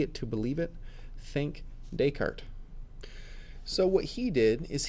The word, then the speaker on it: Descartes: here Rene Descartes yes that is pronounced Descartes not desk artist French French dude and